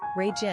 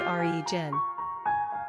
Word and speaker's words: Reagan: This name is also commonly pronounced two different ways, Regan and REE-gin.